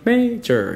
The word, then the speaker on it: major: often emphasize that this the word major is two syllables and you're stressing the first one major you know I said